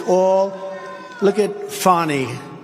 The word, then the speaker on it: Fani: it's all look at fonnie f a n i it should be pronounced Fanny Fanny funny funny they